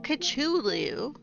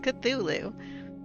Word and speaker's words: Cthulhu: to play Call of kachulu I mean the subtitles get it the subtitles get it I said call of kachulu a lot of people must say it wrong cuz it's cthulu but um we we